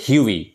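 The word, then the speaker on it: Hughie: কিন্তু একচুয়াল প্রোনাউন্সিয়েশনটা হবে হিউই।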